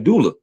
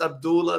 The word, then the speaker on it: Abdullah: And it's not pronounced Abdullah. That's a goofy pronunciation. It's Abdullah.